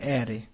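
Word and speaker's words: array: তো অ্যারে, অ্যারে চলক, এটা অনেকে আড়াই পড়ে, আমি নিজেও ভুল পড়েছি অনেক দিন। এটার উচ্চারণ হবে অ্যারে, অ্যারে চলক।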